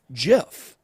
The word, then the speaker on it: GIF: like with Jeff first gift if you think about it phonetically it should actually be Jif just what the Creator meant it to be but your brain reads it initially as GIF well and it's also